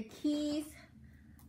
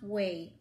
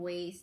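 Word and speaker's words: Ouai: So the first one is the Keys Leave-In, no, not Keys. Gosh, I think it's pronounced Way.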